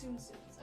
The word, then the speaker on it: Tsum Tsum: we can talk about it through email they're pronounced tsum tsums okay yeah yeah tsum tsums that's what i said watching other orders we